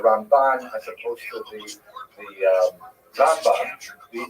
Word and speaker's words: Rambam: all your friends there, Rambam is pronounced with the emphasis on the first syllable, Rambam, and Ramban is pronounced with the emphasis on the second syllable, Rambam and Ramban. That's also helpful because if you can't quite make out the N or the M difference, then it helps to hear the accent.